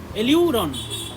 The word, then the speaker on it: aleurone: এলিউরন, হ্যাঁ ঠিক ঠিক, এলিউরন, ALEU, এলিউরন, দুই ভাগ করে নাও একে।